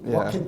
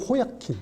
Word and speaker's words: Joaquin: 제가 보기에는 조커 호야킨을 발음을 어떻게 해야 돼요? Joaquin Phoenix. 와킨 피닉스. 우리는 호야킨, 그렇게 호야킨.